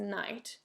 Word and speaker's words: knight: one thing is that the knight although it starts with a k but it's going to be an n sign because when you pronounce it it's a knight any of you is